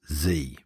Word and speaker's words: Z: The title of the film is the letter Z, as we know it, but here it is definitely pronounced Z.